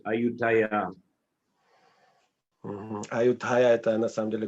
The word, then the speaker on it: Ayutthaya: Ayutthaya, it's just a Thai pronunciation of Ayodhya. They pronounce Ayutthaya.